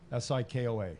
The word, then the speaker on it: Sikoa: Sikoa. Am I pronouncing that right?